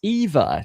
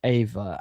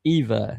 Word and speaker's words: Eva: Eva rhymes with diva. Eva.